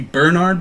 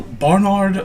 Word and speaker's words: Barnard: bar nude bar lord I never knew how to pronounce this as a kid as you keep thinking it's going to be Bernard but it's an a so Barnard von Spielberg inquires people pestle